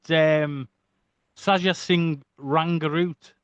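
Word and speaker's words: Sajjan Singh Rangroot: You even done some Bollywood with Saja Singh Rangaroot.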